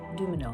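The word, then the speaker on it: Dumesnil: place is the Peterson dumel house I don't think I'm saying it right cuz it's got an s in there but when I hear people talk about it is the Dil house so it's gorgeous too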